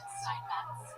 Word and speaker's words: Steinmetz: Steinmetz. With a T, you have to pronounce her T.